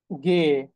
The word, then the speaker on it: G: এই একটা ই এর কারণে দেখবেন সবগুলা শব্দের উচ্চারণ ওলট পালট হয়ে যাবে। হ্যাঁ, একটু পরে বুঝতে পারবেন। এরপর এরপর একটা গুরুত্বপূর্ণ হচ্ছে গে।